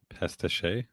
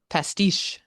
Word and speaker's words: pastiche: Uh, pestache. No, but good try. Pastiche.